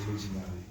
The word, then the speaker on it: Olodumare: Et vu que je suis Yoruba, je préfère corriger la prononciation pour Olodumare, qui est le dieu qui est Yoruba, c'est Olodumare. Alors, moi ma question elle est assez simple.